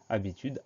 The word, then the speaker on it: habitude: on doit faire attention, parce que devant le A, il y a un H muet.